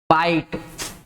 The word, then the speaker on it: bite: तो यही जो है आई, आप देखोगे एक और वर्ड लिख रहा हूं मैं BITE, बाइट या KITE।